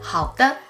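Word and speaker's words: 好的: your companion last one how the how the how means okay all right sure the here is pronounced with a neutral tone very light and quick how if someone asks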